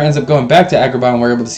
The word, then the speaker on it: Agrabah: I like how they say it. Agrabah. Like there's something cut in your throat. Agrabah.